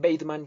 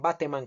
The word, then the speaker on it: Bateman: y jaime bateman cayón que le dicen weithman por pronunciar en inglés pero acá en colombia le llamaban bateman cayón que murió en